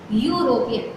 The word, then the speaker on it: European: European. We are going to pronunciate U, not A.